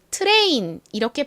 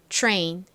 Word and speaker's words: train: 치 소리가 한 방울 똑 들어가게 됩니다 그래서 트레인 이렇게 발음이 되는 것이 아니라 train train 이렇게 트 소리가 들어가요 다음 해 볼까요